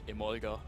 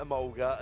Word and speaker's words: Emolga: and I'm just like German pronunciation Emolga so I've always called it a mulga and there are there